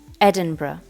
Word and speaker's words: Edinburgh: capital city is spelled Edinburgh but it's actually pronounced Edinburgh the name comes from ancient Gallic and means